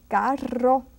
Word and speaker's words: carro: R, when it's double R, you say carro, which is an automobile, and perro, which is a dog.